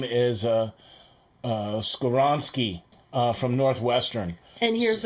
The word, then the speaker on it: Skoronski: His name is Skoronski from Northwestern. And here's $1 for pronouncing that correctly.